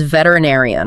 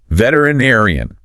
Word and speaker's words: veterinarian: The full word is veterinarian. Oh boy, that is a big one. Let's clap out the syllables for that one. Veterinarian. Veterinarian. It is 6 syllables.